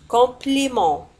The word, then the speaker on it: compliment: Merci pour votre compliment. Merci pour votre compliment. شكرا merci لهذا pour votre. الإطراء هو compliment. ولاحظوا على أن compliment تنتهي بالت ولا تنطق.